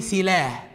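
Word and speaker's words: סֶלָה: وتبدا برده بالسامخ واللامد ولكن هذه الكلمه فيها في الاخر ه ما تنتهش بقى زي العربي يتنطق بالالف او اله واحد سيلا ولا سيلا اه دي بقى تتنطق في الاخر ه مش عين زي سالع رغم هي نفس الكلمه هي نفس المصدر نفس الكلمه تتنطق اخرها فبنقراها بالعربي ايه سلاه طب يعني ايه سلاه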